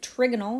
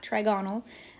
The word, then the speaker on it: trigonal: That's how you pronounce it, trigonal, not trigonal.